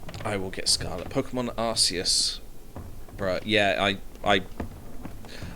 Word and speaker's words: Arceus: Pokemon Arceus. Bruh, yeah, I know it's meant to be pronounced Arceus, but it's definitely Arceus. I pronounce it Arceus because you don't pronounce Zeus Cuse.